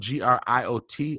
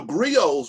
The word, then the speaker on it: griot: is and it's spelled g-r-i-o-t a lot of people pronounce the t my sister always rebukes me and says that t is silent um but just briefly